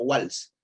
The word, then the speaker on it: Waals: Es creo que austriaco, Van der Waals, pero es doble, se escribe como Waals, así, Waals, W-A-L-S. Van der Waals se dice, Waals.